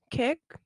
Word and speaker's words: Kik: Kick? I think it's kick. Yeah, that's how you say it.